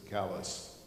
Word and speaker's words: Calais: was our summer home south of Calais or as in Maine they pronounce it callus it started off with